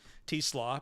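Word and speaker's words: Teslaa: very unfortunate last name because it's spelled like Tesla with an extra A on it, but it is Teslaw.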